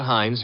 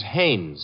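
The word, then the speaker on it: Haines: No, no, no, not Hines. Hannes. Couldn't be Huntingberg. No, it couldn't be. The name is Hannes.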